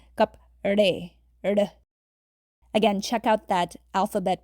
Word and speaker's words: कपड़े: So it's kapde. It's not re, it's kapde.